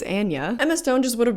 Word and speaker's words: Anya: Sidebar, I guess I've been saying her name wrong for a really long time. It's Anya.